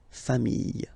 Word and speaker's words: familles: the plural form, les familles, okay? Remember, chien, singular form, chien, same pronunciation, but you put this S, okay? Final S, not pronounced. Famille, singular form, famille, plural form, same pronunciation, S, not pronounced.